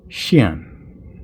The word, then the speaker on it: Xuan: know if that's wrong I don't think it's said like Juan even though it kind of looks like it I think it's Shan but uh must say